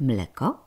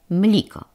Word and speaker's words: mleko: A mianowicie, zamiast mleko wymawia mliko.